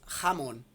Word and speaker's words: jamón: Em espanhol se diz jamón. Jamón. Se escreve com J.